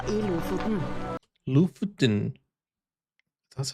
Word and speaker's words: Lofoten: Lofoten.